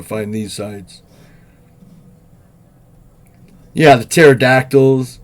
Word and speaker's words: pterodactyl: these sides yeah the pterodactyls right you know why you can't hear uh you know why you can't hear those birds um in the bathroom because the p is silent should